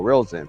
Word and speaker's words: Rilzin: It's spelled Rilzin. R-I-L. Rilzin. R-I-L. Rilzin.